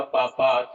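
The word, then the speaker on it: पापात्: यहाँ आप उच्चारण करते हैं पापात अस्मानी वर्तितुम। इस तरह से उच्चारण यहाँ पर नहीं होगा। यहाँ उच्चारण होगा पापात।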